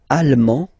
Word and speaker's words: allemand: L'Allemagne, allemand, allemande, okay? Same thing here. Okay, you don't pronounce the final D, but then you pronounce it here for the feminine form.